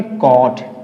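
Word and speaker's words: caught: है, एक वावेल है, तो यहां भी हम GH का हम प्रोनाउंसिएट नहीं करेंगे, इसे क्या बोलेंगे, कॉट।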